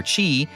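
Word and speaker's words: Kingdom Hearts χ: Kingdom Hearts Key, which is spelled Kingdom Hearts with an X, pronounced Ki or Kai or Chi, as in the Greek letter, but we're going to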